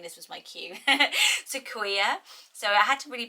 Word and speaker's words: Sequoia: So the next name is Sequoia. So this was on so many botanical name lists. It is beautiful written down. Maybe I could have got away with saying this was my cue. Sequoia.